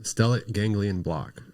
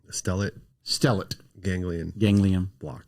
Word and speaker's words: stellate ganglion block: Stellate ganglion block. Okay, say it again. Stellate ganglion block.